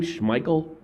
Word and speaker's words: Schmeichel: Schmeichel?